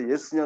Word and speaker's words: yes: 얘가 아니고 이에요, 이. 그러니까 보통 우리가 Yes 그러잖아요? 그 틀린 발음이라니까요. 얘가 아니라 이로 시작해야 돼요. Yes. 그러니까 이가 대놓고 들리진 않는데 시작은 이로 해야 된다고요.